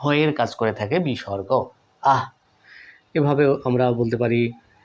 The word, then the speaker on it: বিসর্গ: ভাবে শিখে থাকি বন্ধুরা বিসর্গ বা বিশুখ এরকম শুনেছিলাম সঠিক উচ্চারণটা বন্ধুরা এভাবে পড়াবেন বাচ্চাদেরকে বিসর্গ বিসর্গ দেখুন বিসর্গ চিহ্নটা অনেকটা